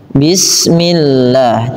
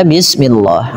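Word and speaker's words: بسم الله: Bila huruf maaf lafal Allah didahului dengan kasrah maka dibaca dengan tipis bismillah. Tidak dibaca bismillah. Hati-hati mungkin sebagian kita ada yang terbiasa melafalkan lafal Allah dengan menebalkannya. Pada dasarnya dia tipis.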